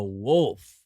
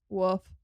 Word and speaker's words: wolf: The L is literally not silent. It's wolf. Wolf.